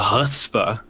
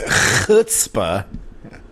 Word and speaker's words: chutzpah: And it's just the sheer audacity of the chutzpah. I mean, it could really only come from. Hold on. You said it wrong. It's chutzpah.